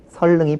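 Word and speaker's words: 선릉: 니은이 니로로 바뀌는 것이 일단 원칙이기 때문에 선능 같은 경우에는 설능이 표준 발음이다라고 이해를 하시면 되겠고요.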